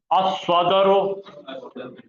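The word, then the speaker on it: الصدر: अब यहां आ जाइए, दिल को बोलते सद्र, बोलो सद्र, जबान की नोक से आ रहा है, तो बोलो अस्वदरो।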